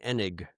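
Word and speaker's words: Eneg: And his name is pronounced E N E G. Enig Doug Henig.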